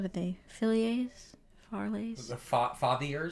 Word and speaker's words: Fathier: The Fathiers? It's like father, but with like an I-E-R.